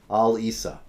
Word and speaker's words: Al-Issa: and I saw that he himself spelled his name Al-Issa. Al-Isa. But in every news report about him, including the one this week, his name is spelled Alyssa, as if he's got an American girl's first name for his surname, Alissa.